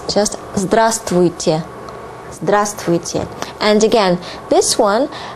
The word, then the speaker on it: здравствуйте: And please mind that you don't pronounce V here. This would be difficult even for native speakers. So it's just здравствуйте.